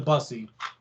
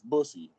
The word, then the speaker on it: bussy: right in the busty you know you're pronouncing it wrong it's bussy man i can't even